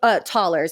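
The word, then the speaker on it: Thaler: wrote one thousand Taylor tallers I think it's pronounced taller is like our dollars one thousand dollars a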